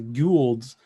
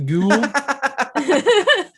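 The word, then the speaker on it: Goa'uld: one thing is the the the goulds it's pronounced but then general hammond's always the goulds the ghoul silly humans yeah so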